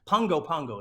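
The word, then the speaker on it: Pago Pago: hit my 75th country I went to uh Pongo Pongo Samoa or it's pronounced Pogo pop Pongo Pongo is how you pronounce it it's spelled pop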